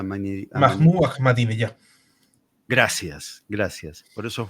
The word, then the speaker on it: Ahmadinejad: una cosa es atacar, pero ¿cuántos años hace que, creo que el primero fue, ¿cómo es que se pronuncia? Amanireyad, Mahmoud Ahmadinejad.